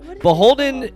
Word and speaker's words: BHLDN: Beholden is pronounced, or BHLDN is pronounced Beholden, and it is inspired by the Dutch word, which is to keep.